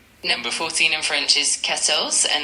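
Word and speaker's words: quatorze: Number 14 in French is pronounced kettles.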